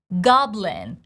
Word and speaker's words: goblin: Goblin has neutral short I. Lin. You see the sides of my mouth, they don't move. I don't say lean, I say lin.